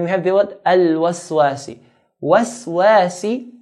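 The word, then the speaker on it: الْوَسْوَاسِ: Waswasi. The wa we pronounce it in a light manner. Wa. Waswasi. And sin sharp.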